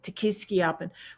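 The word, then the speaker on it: Tequisquiapan: Yeah, Tekiski Appen.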